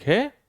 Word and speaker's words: who: देखिए W से start हो रहा है, WHO, W क्या हो जाएगा, साइलेंट। हु मीन्स कौन, हु is responsible for this mistake, इस गलती के लिए जिम्मेदार कौन है।